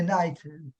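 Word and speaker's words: knight: le chevalier parce que le chevalier c'est night K I GH comme King. Donc en fait ils enlèvent le cas parce qu'on le prononce pas en anglais et donc c'est night.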